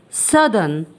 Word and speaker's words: southern: Even though our next word refers to the south direction, it isn't pronounced the same. It is pronounced as southern.